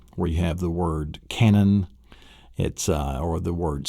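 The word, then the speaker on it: cañón: you have the word canon, or the word senor, and your Spanish word for mister. And it's a nasal sound. It's an NY sound. Senor, canon.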